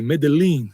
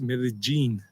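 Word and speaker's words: Medellín: That's why some people make a mistake and say Medellin. It's not Medellin, as most of you already know, it's Medellin.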